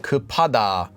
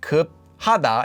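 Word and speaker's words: 급하다: would be the word kupada that extra bit of air gets added to the p up at the bottom so you don't get ku hada it's and this he hit completely goes away this is a lesser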